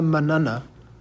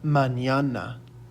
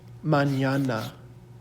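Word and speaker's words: mañana: with the little tilde over it this is pronounced in yay so it's not asta manana it is asta manana so repeat after me manana and then together it becomes hasta manana hasta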